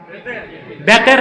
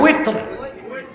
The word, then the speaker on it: উইতর: তারপরে আবার 3 রাকাত বেতের না উইতর, এই উচ্চারণগুলো শুদ্ধ করতে হবে।